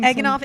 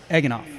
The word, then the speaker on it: Eganoff: Eganoff, it's okay. Eganoff. It takes some time. It does. It honestly takes some time, but I tell people it sounds like a breakfast sandwich. Eganoff.